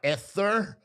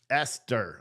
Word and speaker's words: Esther: I'm such a goop I'm not ether ether Esther I got it Esther got it but